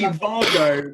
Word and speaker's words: WAGO: much neater with the wago i love how you say it i'm gonna start saying it like that but it's actually vargo because it's german but everyone says it